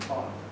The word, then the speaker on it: Paul: Paul, P-A-U-L, not Pool. A lot of people pronounce it as Pool.